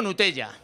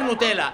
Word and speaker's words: Nutella: mujer nonato región mira yo digo gnutella mi mujer nutella y nunca nos hemos corregido al uno al